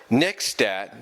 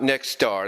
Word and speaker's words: Nexstat: about the fact that next stat not next star that was my fault for mispronouncing their username wrong but next stats patreon